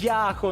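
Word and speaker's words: Yahoo: як вона завжди оголоситься яку насправді Яху ну запам'ятаю наголос на першу літеру на Я на Я ну Давай розповідай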